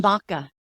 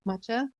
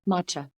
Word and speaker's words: matcha: know I know what about Maka do you know about that not really matcha matcha I said I was like I said it wrong Mach tea tea